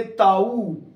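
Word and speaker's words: tau: दिखाई दे रहा है यह टी नहीं है यह टा है टा मैंने ताऊ भौतिक विज्ञान में बोले तो ऊ और आपकी भाषा में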